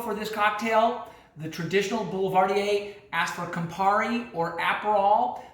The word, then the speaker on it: Boulevardier: and it's called the Boulevardier or the Boulevardier, depending on how you pronounce it. I like the French pronunciation, so it's Boulevardier.